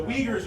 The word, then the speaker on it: Uyghurs: Sorry, the Uyghurs are putting them in camps, all right? It rhymes with wheelchair.